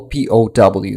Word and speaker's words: POW: that's it that's uh pal p-o-w thank you very much uh Sarah Laz I will say pow from now on um each letter is pronounced separately it doesn't sound the like the word pal okay sorry sorry so